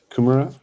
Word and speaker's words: kumara: Kumara.